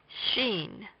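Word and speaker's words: שין: letter R rash next Xin Xin please read along Xin Xin the sound of this consonant is like SH in English next thin thin when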